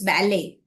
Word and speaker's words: ballet: It's actually not ballet, it's ballet. The T is silent here. So grandma enjoyed the ballet, but I didn't.